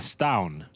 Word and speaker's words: Stavn: Oh, Stavin. Apparently it's pronounced like it's a silent B. It's like a stown, you know?